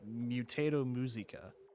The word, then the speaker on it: Mutato Muzika: of a company named mutato muzika and yes that's actually how you say it because it's like mutato like potato mutant and muzika like the french word i think for music so mutato musica he